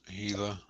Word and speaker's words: Gila: The Gila monster. The G is silent. Sounds like an H.